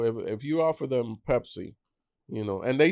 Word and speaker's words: Pepsi: It's Pepsi. It's Pepsi. Oh, but we call it Py. Oh, yeah. Yeah. But we don't pronounce it correctly. It was pexy with for for us.